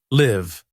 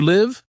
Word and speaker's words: live: Here, the I has a long sound like the letter I, L, A, I, V, live.